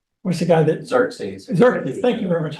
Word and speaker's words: Xerxes: They're, you know, the scary, exertus. What's the guy that? Xerxes.